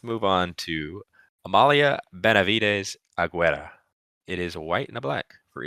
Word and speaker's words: Aguirre: Did I say Aguirre? Yeah. Nah, Aguirre.